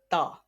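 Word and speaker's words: ت: Next, ta. Ta, ta is pronounced from the tip of tongue touching the root of top to front teeth.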